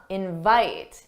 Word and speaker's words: invite: But notice for the verb, the stressed syllable is the second syllable. Da-da, invite, invite. That's the verb. Invite, invite, that's the noun.